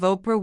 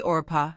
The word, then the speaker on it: Oprah: Her name, Oprah, was supposed to be Orpah from the Bible. But people often said it wrong. Eventually, Oprah became the name everyone used.